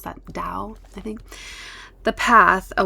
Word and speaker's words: Dao: How do you pronounce that? Dao.